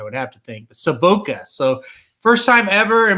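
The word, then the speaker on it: Sobotka: 5 is Smiley Sabatka. That's how I say it. I can correct you. For the first time in my life, I can correct you. Sabotka is how you say that. Sabotka, okay. Yeah, the only reason I know that is Vladimir Sabotka played for the Blues.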